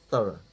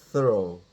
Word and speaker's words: thorough: completely okay fastidiously okay thorough that's how it's pronounced thorough although the Americans would say it's pronounced thorough but they're wrong well I mean it's American